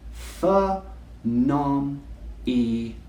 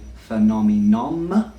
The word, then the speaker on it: phenomenon: Phenomenon. Phenomenon. Let's try it a little bit quicker. Phenomenon. A lot of English people say phenomenon, but no, it ends in nun.